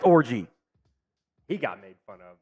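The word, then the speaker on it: Orji: version of of orgy no way his last name's really pronounced it is pronounced orgy he got made fun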